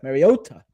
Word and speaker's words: Mariota: But you're going to get Marcus Mariota today. It's Mariota, not Mariota. Mariota is the correct pronunciation which he officially said earlier this year.